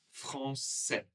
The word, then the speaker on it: français: Donc par exemple pour moi qui suis masculin, ce sera français. Je ne prononcerai pas le S.